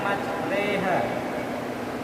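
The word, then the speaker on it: مجراها: Kemudian selanjutnya ada bacaan imalah yaitu di mana huruf ro dibaca reha, tulisannya majroha tapi bacanya majreha.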